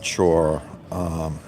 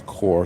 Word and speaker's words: Chur: So we arrived in Chur, and I was calling it Chur. It's spelled Chur. It's Chur, Switzerland, and it's a very it's